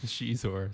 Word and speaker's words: Xizor: She invented Shizor's name, one of the all-time great controversial pronunciations. You mean of Star Xizor? Wars. Xizor? Shizor.